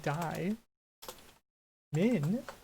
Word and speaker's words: diamond: saying die mund then people said diamond diamond it's like barely say the d at the end so realistically the way i'm spelling it die min diamond diamond just comes out easier and it's spelled properly